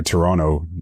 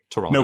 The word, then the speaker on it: Toronto: interesting you say like you say like natives here Toronto you didn't pronounce the second T whoops it just came